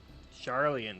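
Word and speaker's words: Sharlayan: Charlian, that's how you pronounce it.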